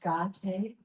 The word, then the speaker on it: gate: The words CC there are pronounced gate.